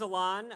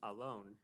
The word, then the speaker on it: Alon: He said it's actually pronounced Alon, and it means oak tree in Hebrew.